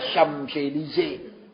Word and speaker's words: Champs-Élysées: Itu yang tulisnya Champs-Élysées itu. Bacanya Champs-Élysées.